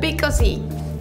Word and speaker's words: Vico C: Vico C.